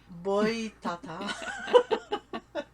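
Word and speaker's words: Boitatá: Ben, en fait, ça s'écrit Boitata accent aigu. Oh, oui. Boitata.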